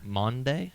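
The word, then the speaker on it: Maundy: on Monday Thursday and how do you say that word m Au u d y a m a u n d y Monday Monday Monday Thursday like Monday like the day of the week Thursday it's a dad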